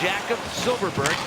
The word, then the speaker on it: Jakob Silfverberg: It's pronounced Jakob Silfverberg.